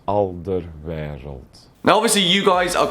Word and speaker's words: Alderweireld: of those names that's just very difficult to pronounce. Hi, I'm Toby Alderweireld. Just to be clear, this is how you pronounce my name. Alderweireld. Alderweireld.